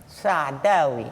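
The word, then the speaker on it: Saadawi: Sa Sadhavi, did I pronounce it correctly or Sadhui? Sadavi.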